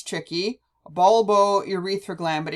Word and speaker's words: bulbourethral: Now, the last one sounds tricky, bulbourethral gland, but if you divide it into the syllables, you have bulbo, which sounds like bulb, and urethra, which makes sense because it's the bulb that joins the urethra.